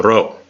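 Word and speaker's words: rho: think it's Pete it's not P it's a row and it has R sound like and Rob but when you go to write it it's a lowercase B there you go yeah but you pronounce it like an R so wrong and this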